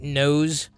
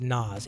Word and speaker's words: NOS: Are you making Darth Vader drink nose? I'm sorry, you cannot convince me that it's pronounced Nas. It's nose, dude.